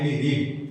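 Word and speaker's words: read: তখন এই ভার্বটা রিড ভার্বের তিনটা ফর্ম কিন্তু এক, present form, past form, past participle form একই। প্রেজেন্ট ফর্ম উচ্চারণ হবে আর ই রিড, আর পাস্ট ফর্মে পাস্ট পার্টিসিপল ফর্ম উচ্চারণ হবে রেড।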